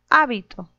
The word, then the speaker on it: hábito: En la primera, la mayor fuerza de voz está en la primera sílaba. Hábito.